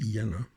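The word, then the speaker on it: Jena: understand it that are marked uh jenna or as people now pronounce it yenna i'm i'm going to pronounce it jenna the the the channel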